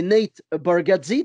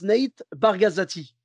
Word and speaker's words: Nate Bargatze: Et donc, lui, son nom, c'est Nate Bargatze, tu vois. Et il y en a, je ne sais pas pourquoi, il prononce Nate Bargazzati. Ah ouais, c'est un autre nom carrément.